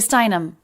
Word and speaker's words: Steinem: there's that name again and again we have a little bit of stress on the stress level of gloria but then more stress on the stressed syllable steinem gloria steinem there's